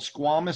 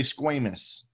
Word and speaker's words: squamous: or flattened out appearance those cells are called squamous cells or some people say squamous both pronunciations are fine so this squamous or